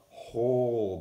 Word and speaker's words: whole: bit of it the whole barn and you see there's a W at the beginning but we do not hear that W so we just pronounce this word whole alright let's take a